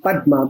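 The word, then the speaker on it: পদ্মা: Again, in 2012, when the Podda Bridge, also spelled Padma, P-A-D-M-A, but it's pronounced Podda in Bengali.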